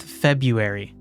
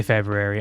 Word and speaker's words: February: is the month February nobody says the r in it nobody says February but it's it's like why so why do we spell it that way I hate it h it's uh you know it's it's good you finally learned how to spell it correctly I guess like I don't really know like nobody's going to get confused you do say February all right okay